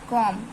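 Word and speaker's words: comb: ऐसे सीओ एम बी कॉम कॉम में हमारा क्या है बी जो है हमारा साइलेंट लेटर है बी साइलेंट लेटर है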